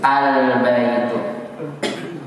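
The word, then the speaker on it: البيت: Ketika alif lam bertemu dengan huruf qamariyah, ketika dibaca al-baitu, alnya kedengaran? Kedengaran.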